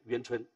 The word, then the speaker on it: 宛春: 就派了楚国一个大夫叫做渊春，这个晚字要读作渊春，到晋国